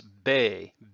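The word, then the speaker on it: 米: if taken by itself could be pronounced as bei and what does it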